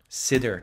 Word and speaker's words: Sidr: Notice how I pronounce it. Sidr tree. Cedar tree.